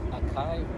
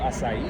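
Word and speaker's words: açaí: some of the most it's a certain fruit called akai akai a c a i not spel I'm not pronouncing it correctly but oh asai or asai asai yeah they have they have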